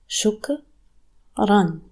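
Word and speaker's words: شكرًا: You have sheen with dhamma, which makes shu. Kaf with sukoon, it makes k. Ra with double fatha makes ran. Shukran. As we mentioned before, the alif is not pronounced with the double vowels. If you want to pronounce the alif, you say shukra.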